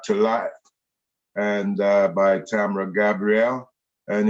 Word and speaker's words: Tamra: life and uh by tamra gabriel and it's pronounced tam ra the and the woman is called tamara but the man is called tamra yeah an american that's